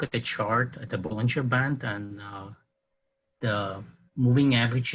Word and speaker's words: Bollinger: the Bollinger Bands yes first of all it's bowling you're not pulling her right I hear some people pronounce it vulgar good well I know John IV I've met him so we call him Bollinger but yeah so do